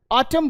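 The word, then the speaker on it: autumn: इसी तरह आपका कॉलम बोलते हैं इसको, column, column, N silent, N को नहीं बोलना, कॉलम, कंडेम, डैम। ऑटम बोलते हैं, ऑटम, ठीक, होता है ना आपका समर, विंटर, स्प्रिंग, ऑटम, ठीक।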